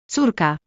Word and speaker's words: Córka: U as in moon. Despite looking different, this letter sounds identical to the Polish letter U. Both make an U sound, as in moon. When you see it, just say U.